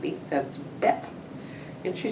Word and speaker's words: Beth: yet, but you know, in Two Rivers, BETH is, if you're older, it's pronounced Beth, the German. And when I started teaching, I insisted on Beth. I said, those kids won't know what I'm talking about if I say, call me Mrs. Bate.